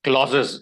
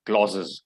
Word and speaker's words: clauses: in any given language clauses is how we pronounce the word clauses clause clauses yes phrases and words in